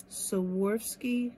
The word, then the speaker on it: Swarovski: So for this one, I'm going to use E600 glue, and I bought some little Swarovski crystals, and I said it right.